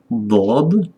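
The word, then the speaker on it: ض: sod I tu mamy dod dod dod jest jakby jakby jakby d byście jakbyście jakbyście d wymawiaj ale nie całkiem mocnie tak dod jak o jakbyście O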